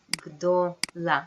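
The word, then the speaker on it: גדולה: Ze glida g'dola. This a sound kind of runs away. Okay, pay attention to that.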